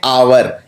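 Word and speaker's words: hour: लगाऊंगा एन क्यों लगाऊंगा क्योंकि आवर को बोलते हैं आवर इसमें एच साइलेंट है तो अगर एच साइलेंट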